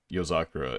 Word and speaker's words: Yozakura: So But phonetically, I feel like so it'd be yo. Obviously, like we just go fucking syllable by syllable. It'd be yo. I'm pretty sure it's za, Yeah. ku, ra, and then like if you're saying it like all together, yozakura, and that's how they say it in the fucking anime too.